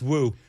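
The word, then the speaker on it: Wu: Boston I blame you it's it's pronounced it's pronounced woo because oh I I blame you because everyone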